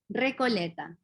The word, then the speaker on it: Recoleta: how do you say that la la coleta recoleta recoleta how do you spell that r-e-c-o-l-e-t-a oh nice okay so we got